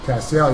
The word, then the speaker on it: Castiel: Did I say that right? Castiel? Castiel, you're one of the few people that actually do say it correctly.